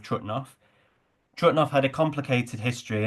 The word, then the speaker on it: Trutnov: my brother in 2008 in German it's called trout now but for the purposes of this talk I'm going to call it by its check name of trutnov trutnov had a complicated